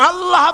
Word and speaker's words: আল্লাহ: আল্লাহ পাকের উচ্চারণটা হচ্ছে আল্লাহ পাকের নাম হচ্ছে আল্লাহ মুখটা একটু গোল হয়ে যাবে বলেন আল্লাহ আল্লাহ